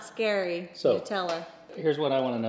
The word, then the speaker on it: Nutella: I know in Spain they say something like Nucilla, something like Nucilla. Oh. And in the States we go Nutella. Hey Siri, How do you say Nutella in Italian? In Italian, Nutella is Nutella.